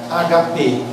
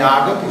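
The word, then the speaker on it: ἀγάπη: tinham uma festa chamada HP. Não é ágape, já falei para você, não é uma palavra proparoxítona, é HP. ou agape, é uma palavra grega, você não muda a pronúncia dela.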